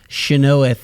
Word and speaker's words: Chynoweth: Chynoweth is the proper pronunciation, actually.